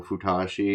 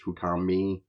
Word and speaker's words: Fukami: For some reason, I thought the third one was she, you know, futi. It's fukami.